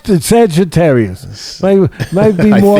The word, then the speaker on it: Sagittarius: How do you pronounce that? Sagittarius. Sagittarius.